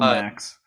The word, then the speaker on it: Macks: so max so mac is it mac or max like plural max it's max it's spelled m-a-c-k-s but i have a lot of people call me mac just because it's like